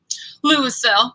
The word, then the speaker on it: Louisville: Now, do you pronounce it Louisville or Louisville? Louisville.